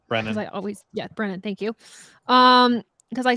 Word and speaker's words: Brennan: Brendan, Brendan Pohl. We're pronouncing this correctly. Brennan.